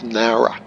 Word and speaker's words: Nowra: ATC say neura airport it's not newer it's nowra how now brown cow Not Who Knew Bruno